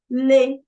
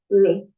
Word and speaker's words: le: Le just L E le you hear how I'm pronouncing it I'm not saying Le it's a bit higher pitched Le we've spoken of